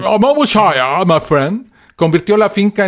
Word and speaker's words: Monmouthshire: Monmouthshire. Excelente pronunciación. Monmouthshire, my friend.